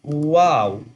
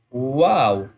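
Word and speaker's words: واو: So this one is wow. Noon. Wow. Wow. Wow. When you round both lips, you can pronounce easily wow.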